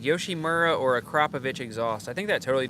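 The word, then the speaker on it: Akrapovič: On an MT-07, okay, if the question's MT-07, Akrapovich all day. No questions asked. 100%. I think I'm pronouncing it right. Everybody says Akrapovic, but I'm pretty sure the proper way is Akrapovich.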